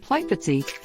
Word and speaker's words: Plitvice: Pipest Lakes National Park, colloquial Plitvice, pronounced Plitvice, is one of the oldest national parks in Southeast Europe and the largest national park in Croatia.